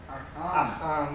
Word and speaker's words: Achan: Achan is really the proper pronunciation.